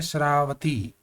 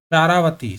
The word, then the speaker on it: शरावती: तो option A है शरावती, शरव शरव शारावती, sorry शारावती इसका सही प्रोनाउंस होगा।